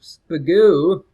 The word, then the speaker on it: Spagoo: Speaking of which, Spagoo, which rhymes with Magoo, leading the charge here.